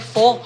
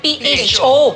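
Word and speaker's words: phở: At ang pronunciation nga daw nila is pho. Akala ng mga Pinoy, pho. Kasi diba? Ang spelling niya, P-H-O.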